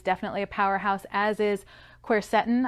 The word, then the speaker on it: quercetin: a powerhouse as is quercetin i've also heard that pronounced quercetin tomato tomato i guess now this particular supplement